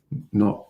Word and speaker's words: know: That's the New Ledge, K-N-E-W, not N-E-W, the New Ledge, a little play on the No Ledge, which may be my next poetry book, K-N-O-W, as in knowledge, but pronounced no, as in I know, K-N-O-W.